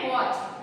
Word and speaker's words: watch: फिर है वॉच, WATCH, वॉच का हो जाएगा मैच, MATCH, तो इसमें साइलेंट हो जाएगा T।